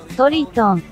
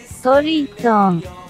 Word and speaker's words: Toriton: Andiamo a sentire come si pronuncia in giapponese. Toriton. Riascoltiamolo. Toriton. Quindi, come avete visto, sia come è scritto con gli ideogrammi giapponesi, anche come la pronuncia è Toriton.